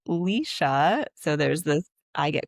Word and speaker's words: Lesha: Which is funny because my name is a single E, but it's pronounced Leysa.